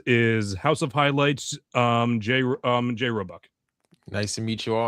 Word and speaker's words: Roebuck: Did I pronounce that right, Roebuck? Yeah, you got it right, Roebuck.